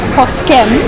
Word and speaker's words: Posquem: Well, it's Posquem, but Posque is the pronunciation.